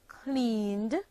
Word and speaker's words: cleaned: The verb clean, clean, becomes the past tense verb cleaned, cleaned, and is pronounced cleaned, having only one syllable.